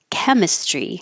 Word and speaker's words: Chemistry: Chemistry. I'm controlling my own accent here. Chem instead of Kim.